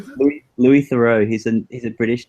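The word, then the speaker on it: Louis Theroux: Louis Thorough.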